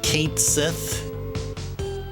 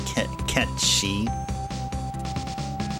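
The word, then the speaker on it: Cait Sith: Yeah, Kate Sith, Quistis. That's not how you pronounce those names, though. Sometimes I catch myself saying Kate Sith. It's actually Ketchi. And it's actually Kistis, like kiss.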